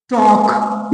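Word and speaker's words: talk: पढ़ेंगे नहीं वहां देखिए यहां पे टी ए एल के टॉक इसको पढ़ेंगे टॉक लेकिन लिखेंगे टॉक है ना यहां पे एल साइलेंट है स्कूल में आपने कभी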